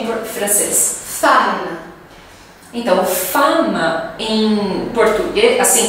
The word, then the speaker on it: femme: a palavra mulher como que é em francês fana então Fama em português assim quando a gente